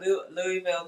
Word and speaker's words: Louisville: So, yeah, if you can give me a update on that Stallions uh cat Louisville game or how do you pronounce Am I saying it?